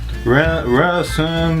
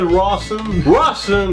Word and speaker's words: Rawson: Il n'y a pas de N dans Ranson. Non, mais c'est le même qu'on le prononce en anglais. Rawson, c'est ça.